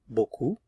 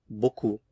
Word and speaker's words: beaucoup: Beaucoup. Beaucoup. Too much. Trop. Trop. So final consonants not pronounced here. Demain. Beaucoup.